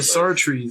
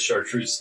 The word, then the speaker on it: Sartrese: The Sartrese. It says chartreuse in my head.